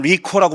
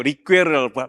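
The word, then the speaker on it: Ricœur: 그래 가지고 사실 미국에 널리 알려진 사람이 폴 리 또 미국 사람 리코라고 부르더라고. 리코 리코스터 같이 리코라고 부르는데 원래 프랑스식 발음은 그게 아니래요. 리퀘르라고 발음해야 된다는데 폴 리퀘르라는 사람이 쓴 악의 상징이란 책이 있습니다.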